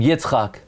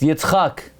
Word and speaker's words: Yitzchak: There is no name Yitzchak. It's Yitzchak.